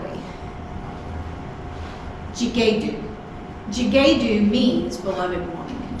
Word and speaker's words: Ghi-ga-u: Ghi-ga-u.